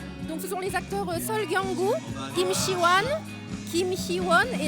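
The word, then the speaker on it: 설경구: Soo Kyung-gu, Im Si-wan. Vous pouvez pas m'aider pour la prononciation de leur nom? Donc ce sont les acteurs Sol Kyung-gu, Im Si-wan, Kim Hee-won et l'actrice Chon Hye-jin.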